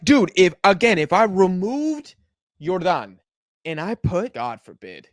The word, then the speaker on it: Jordan: Jordan Osorio, I think it's pronounced Jordan, actually.